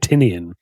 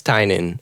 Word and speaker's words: Tynion: of course you should you know like James tinan I love Detective Comics did that you pronounce it I've been pronouncing it tinian I always thought it was tinian too I